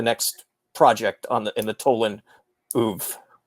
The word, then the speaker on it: oeuvre: And then tell us about the next project in the Tolan oeuvre. Oeuvre, please, Larry. Oeuvre. Second syllable.